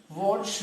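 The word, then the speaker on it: Wurtz: So in this reaction the name is pronounced as what? Watch reaction.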